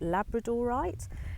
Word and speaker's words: labradorite: to mind is labradorites now some people call it labradorite and actually it's probably the correct pronunciation because it's from Labrador in Canada and it's got what